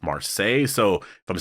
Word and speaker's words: Marseille: a recent video and some people were correcting me saying that it was actually pronounced Marseille so if I'm saying